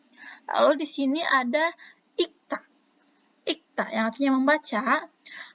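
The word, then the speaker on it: 읽다: Lalu Sam, kenapa ini dibacanya ikta? Kan di sini ada real. Kenapa? Karena kalau dalam bahasa Korea itu ada beberapa aturan cara pembacaan. Nah, kalau di sini ketika real dengan giok ini bersatu seperti ini, yang dibacanya itu yang belakangnya, yang ini, yang giok. Sehingga dibacanya menjadi ikta. Ikta.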